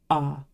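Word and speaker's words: あ: heag character this is ah it's pronounced like the a in father it's never pronounced a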